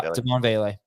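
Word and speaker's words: Devaughn Vele: Yeah, Devon Vele.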